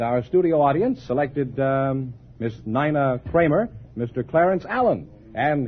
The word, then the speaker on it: Nina: Isn't N-I-N-A Nina? No, it's Nina.